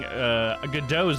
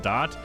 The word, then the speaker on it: Godot: Oh, and I found out I was saying Godot's name wrong the entire time. I kept calling him Godot, but it's actually silent T. It's Godot, so I'll be calling him Godot from now on.